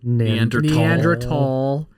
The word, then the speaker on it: Neanderthal: the old show neanderthal everyone says neanderthal but nander tall they're both right but we people said